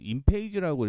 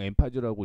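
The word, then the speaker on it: Enphase: 엠파지 에너지가 시장 점유율을 인페이지라고 읽을 때도 있고 뭐 그냥 엠파지라고 읽을 때도 있고요. 그렇죠? 사실 인페이지라고 읽는 경우가 더 많습니다.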